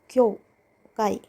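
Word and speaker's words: 教会: ओतेरा मतलब टेंपल क्यों क्यों काई यहां पे जो यह है आप ध्यान दीजिए ये छोटा यो है बड़ा यो नहीं बनाया ये इससे मिला हुआ है तो इसका साउंड हो गया क्यों क्यों काई मतलब चर्च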